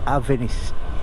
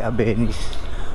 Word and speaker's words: Avenis: naobserbahan ko dito kay abenis or kay abenis tamang pronunciation pala nito is Suzuki avis hindi abenis avis ay pagdating talaga